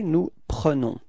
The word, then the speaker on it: prenons: Okay, and keep in mind that E is pronounced like E, pre, pre, okay, nous prenons, repeat, nous prenons, yeah, that's it.